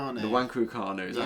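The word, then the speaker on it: Nwankwo Kanu: Uh West Brom legend uh uh and Wanguanu. Have I pronounced that right? No. Wangukanu.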